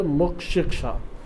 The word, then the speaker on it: مقشقشہ: مقشقشہ کہا جاتا ہے۔ مقشقشہ چونکہ اس میں قاف اور شین ہے، اس لیے اس کے تلفظ میں تھوڑا سا مشکل پیدا ہوتی ہے۔ اصل لفظ ہے مقشقشہ۔ مقشقشہ یعنی بیماری سے